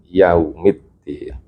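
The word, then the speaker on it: يوم الدين: Bukan yao tapi yau kan yaumiddin maiki yaumiddin.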